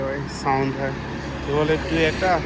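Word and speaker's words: Toyota: Theatre শোরুমের theatre showroom টয়েটা, একজনের আর কি স্পেলিং ইয়ে হয়, সাউন্ড হয়, কেউ বলে টুয়েটা, কেউ বলে টয়েটা। জাপানিজরা টয়েটা বলে।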